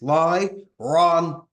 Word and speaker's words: Lyran: The Lyran, it's a three-syllable word. It's lie, wrong, and that's how you have to say it. Because you say the raw part, you say it in your chest, and it brings out the power.